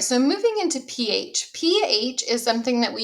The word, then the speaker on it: pH: Next week we'll learn how to calculate the pH from a solution. But for now, um, we're just going to learn what it means. So, pH, notice that it's pronounced PH, just letter P, letter H.